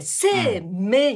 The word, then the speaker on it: 生命: からいわゆる絵はいせうんいはせいいは発音しなくて生命になるんですようん